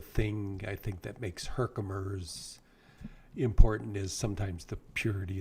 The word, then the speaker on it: Herkimer: Herkimer? Is that how you Okay.